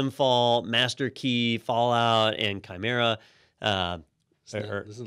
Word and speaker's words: chimera: slick names like Rise and Fall, Master Key, Fallout, and Chimera.